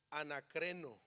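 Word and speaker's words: ἀνακρίνω: La palabra en griego se pronuncia, creo, anacreno.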